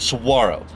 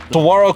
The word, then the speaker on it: Saguaro: I've been mispronouncing this cactus name because of the way it's spelled with a G for at least 4 weeks now.